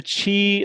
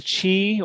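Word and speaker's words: Qi: going to be the chi the chi or it's spelled q-i but pronounced wireless charging standard and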